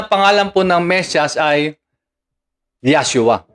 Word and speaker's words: Yahshua: Ngayon, ang tunay at orihinal na pangalan po ng Mesyas ay Yahshua o Yahushua. In short term, Yahshua. Sa ibang pronunciation, Yahushua.